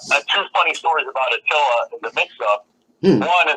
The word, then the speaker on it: Aittala: Did I say it right? It's Aittala. Aittala. Aittala. Two syllables.